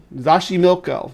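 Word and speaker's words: Xochimilco: say that um I'm going to pull the pronunciation up here so I don't say it again Lake uh zashi zashim milco zashi milco yeah which is is down here down here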